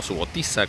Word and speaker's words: Subotica: patrona de la ciudad de subotica o su gotita como han dicho que se pronuncia es santa teresa de